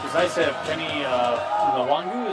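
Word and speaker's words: Nwangwu: It was nice to have Kenny Nwangu, is that how you pronounce it, from Iowa State back and return kicks. Nwangu, I believe that's correct.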